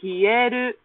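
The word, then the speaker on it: 冷える: The verb form is actually pronounced totally differently, which is hieru.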